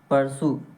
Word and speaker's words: peruse: तो next word क्या है दोस्तों, नेक्स्ट वर्ड है आपका परसू। क्या लिखा है दोस्तों, परसू।